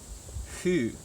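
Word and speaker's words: ふ: It's like foo, but they have a weird way of pronouncing foo. I can't get it right. It's something like hu. It's like a really, it's like you want to say foo, but you're not going to commit. Hu. It's halfway between who and foo in English.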